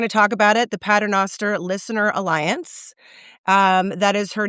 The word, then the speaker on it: Paternoster: It's exactly how it's spelled.